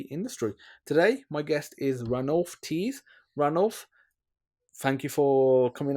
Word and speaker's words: Ranulph Tees: be here fantastic so you know your name ran off teeth am I pronouncing it correctly yeah that's absolutely right but